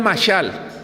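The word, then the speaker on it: משל: se escribe masal, no se pronuncia como tal, estoy pronunciando literalmente porque en México acostumbramos pronunciar las palabras tal como se escuchan, aunque en hebreo la pronunciación es distinta.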